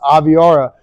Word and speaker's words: Aviara: It's a new brand, a newer brand, and that's how you pronounce the name, is Aviara.